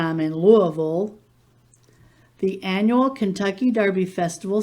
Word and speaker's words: Louisville: you go to louisville remember that kentuckians pronounce it louisville with that in mind